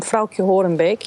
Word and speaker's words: Frauke Horenbeek: But the next question comes from Frauke Horenbeek. Yes, people, that is how you pronounce it.